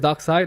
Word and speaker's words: Darkseid: each side that side docks it's called it's pronounced Darkseid and the moon is a parody demon they